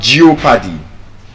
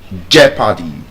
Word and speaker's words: jeopardy: It's not geopati jeopardy. You don't geopodize something. You jeopardize the skill, the science of clear pronunciation.